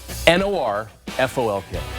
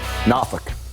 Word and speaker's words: Norfolk: Now, before I let you go, I want to give you a word and see how you pronounce it. N-O-R-F-O-L-K. Norfolk. All right, Norfolk.